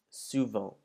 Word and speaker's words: souvent: Now you'll notice that this word ends in ENT, and before you were told never to pronounce the ENTs, this word is one of the few exceptions where you would pronounce the final ENT of the word.